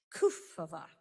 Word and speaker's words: Kufová: I've learned you emphasize the first syllable of the Czech name, Kufová, today.